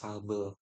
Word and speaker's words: Sobel: Ini bacanya Sabel. Nggak tahu di pokoknya Sobel gitu ya.